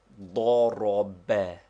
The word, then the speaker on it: ضرب: They form the Arabic word he struck, which is pronounced ضرب, with the accent on the last syllable.